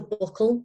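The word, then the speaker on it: buccal: then yes we've got the buckle up which is um it's spelled b-u-c-c-a-l and i've called it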